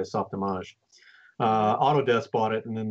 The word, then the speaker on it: Softimage: so it's Softimage but it's pronounced the French way Softimage Autodesk bought it and